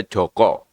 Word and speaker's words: Jaka: A itu dibaca beco Jaka itu dibaca Joko kalau di sini Jaka ya tetap Jaka yang benar kata orang ahli